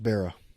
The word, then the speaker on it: Barra: Yes, Okay, but just Barra.